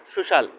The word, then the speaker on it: social: যেমন কিভাবে সি এর উচ্চারণ তালিবি স বাংলা অক্ষরের মত হয়। তো এখানে আমরা দেখতে পারছি একটি লেটার সুশাল তো সুশাল এই সি এর পরে আমরা সি